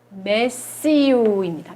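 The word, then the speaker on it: messieurs: monsieur라고 발음을 해요. 요거의 복수는요, 메시우입니다.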